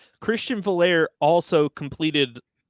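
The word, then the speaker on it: Veilleux: He will not be a good quarterback until he pronounces his name the way that it should be pronounced. How about that? Like I don't know how you get ER out of IEUX.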